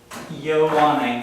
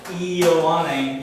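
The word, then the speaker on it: Ἰωάννην: So, Ioanne, so that I sound, when it comes in front of another vowel, it can be a Y sound, Y. So, Ioanne, Ioanne.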